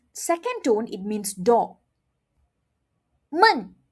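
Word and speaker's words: 闷: men men Okay. Now, let's look at the meaning. men second tone it means door men fourth tone it means boring Hear that?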